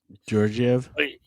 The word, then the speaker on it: Georgiev: He's Alexander Gorgv. He was Georgiev.